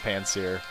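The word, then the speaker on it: Pansear: Although I'm pretty sure we're all at a consensus that it's pronounced Panseer.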